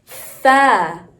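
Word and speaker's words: ث: Our next one is similar to ta, but it's pronounced Tha. Bite your tongue when you say the letter.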